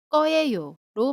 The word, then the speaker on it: 거예요: 발음할 때는 거예요가 아니고 꺼예요로 발음한다고 했습니다.